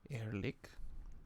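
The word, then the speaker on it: Ehrlich: lewis and drew elrick no wait erlich sorry air lick how do you pronounce it e-h-r-l-i-c-h air leak right is it german yeah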